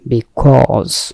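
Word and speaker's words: because: beautiful মানে হচ্ছে সুন্দর বিকজ কে অনেক সময় আমরা খোঁজ বলি এখানে জ আছে উচ্চারণ খেয়াল করবেন বিকজ বিকজ মানে হচ্ছে কারণ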